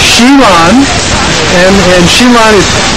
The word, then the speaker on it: Xi Lan: out of 45,000 votes around the world it's pronounced sheilon and and sheilon is it's also significant too